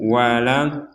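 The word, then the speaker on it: ولا الضالين: Jadi ini yang pertama panjang. Kemudian tasdid ditekan. Jangan sampai hanya sekedar waladin waladin berarti tidak ada tasdidnya. Padahal dari sini ada tasdid yang harus kita baca.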